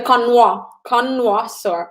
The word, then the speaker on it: connoisseur: So yeah, when we say it, it's pronounced connoisseur in English, but of course it is a French word, sommelier, and a wine connoisseur.